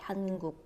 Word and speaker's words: 한국: Then you pronounce the final position 기역 as unreleased K, 한국.